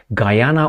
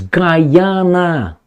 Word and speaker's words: Guyana: of a region in Guyana or Guyana. A friend of mine, I will not mention her name, it starts with a D. He said, "It's Guyana." And I said, "No, Guyana."